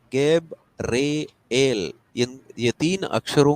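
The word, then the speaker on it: Gabriel: इसका मतलब क्या है गेब्रियल या फिर इसको प्रोनाउंस जब करते हैं गब रे एल यह तीन अक्षरों का जो ब्रेकेज है यहां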